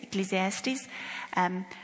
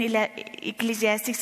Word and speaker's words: Ecclesiastes: Yes, Ecclesiastes. It is 11, 1 and 2. Let's just quickly read that. It's in the context of sowing, which is interesting. Because it says in Ecclesiastes 11, cast your bread upon the waters, for